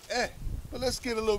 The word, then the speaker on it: ה: How do y'all pronounce he go? They say ha. Ha. Right? So now we already saying something is wrong. It should be eh.